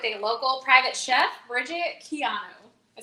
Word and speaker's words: Quijano: we're joined with a local private chef bridget keanu i said it right right you did you